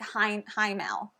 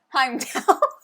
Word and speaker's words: Heimdall: So there's going to be different meeples played out that represent different gods, like Heimel. Is that not Heimdall. Heimdall.